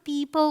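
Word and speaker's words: people: देखिए rule number two अगर ओ के पहले ई आए तो ओ साइलेंट होता है जी हां तो देखिए यहां पे इ ओ आ रहा है ना तो यहां पर हम पीपल बोलेंगे यहां पे ओ का कोई रोल है नहीं इसे देखिए ओ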